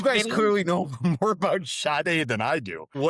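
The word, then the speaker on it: Sade: Um, I thought it was Shade or Shade, but it's pronounced Shade.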